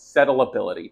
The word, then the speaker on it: settleability: Why set solids? Settleability test. That's the proper way to say it.